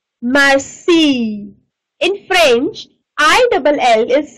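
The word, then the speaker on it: Lille: In French, I double L is silent. So it's Marseille. Toulouse. Li. Again, your I double L comes, so it means it's silent, so we just call it Li.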